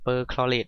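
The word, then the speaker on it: perchlorate: cl4 ลบ นะ ครับ อ่าน ว่า per คลอต ไอออน ตัว นี้ นะ ครับ อ่ะ เปอร์ คลอเรต ไอออน นะ ครับ ตัว นี้ ก็ เจอ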